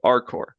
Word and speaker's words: RCORP: opioid response program uh often shorten to our uh silent p at the end.